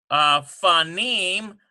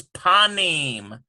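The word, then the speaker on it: פנים: Number 13, we have right now we have fanim, but notice that this right here is a beged kafet letter, so we have to put a dot in there. It becomes panim. P-A-N-I-M, panim.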